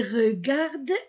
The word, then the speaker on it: regardent: Les enfants les regardent et rient. Les regarde, ENT du verbe ne se prononce pas, regarde et rit.